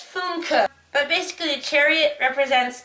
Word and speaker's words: Funke: Apparently it's Funke.